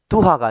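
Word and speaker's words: duha: 2번도 두하가 아니고 두하.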